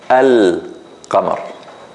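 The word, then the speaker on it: القمر: And in this case, in the Huruf Al-Qamariyya, or the moon letters, we do pronounce the Lam. So we say Al-Qamar. We say Al-Qamar. We pronounce the letter Al, the Lam.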